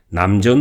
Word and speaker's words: 南泉: 이들이 많이 있습니다 포포의 한자 대로 읽으면 남 청이 되지만 남전 으로 발음하는 것이 관행이 입니다 여기 상대로 나은 u